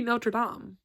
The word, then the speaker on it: Notre Dame: Because it should be Notre Dame. Because that's how you say it.